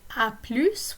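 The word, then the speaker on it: à plus: and they mentioned that the final s of plus is pronounced in an expression like aplus which means like you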